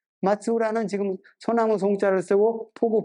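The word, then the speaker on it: 松浦: 그다음에 쭉 와가지고 큐슈 북부 지역에 말로국이라고 되어 있는데 지금 발음으로는 마츠우라입니다. 마츠우라는 지금 소나무 송자를 쓰고 포구 포자를 씁니다.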